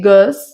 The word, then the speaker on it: goes: Mas lembrando, esse E não é pronunciado. Então, vai ficar she goes to the gym.